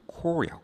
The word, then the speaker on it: corps: 있는데 그게 뭐냐면은 우리가 C O P E를 빼세요. S가 있어. 이게 발음이 이게 s가 발음이 안 나요. 시체는 코스죠. 이건 그냥 코야.